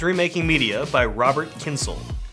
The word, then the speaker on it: Kyncl: remaking media by Robert Kinsel pronounced like tinsel here are my thoughts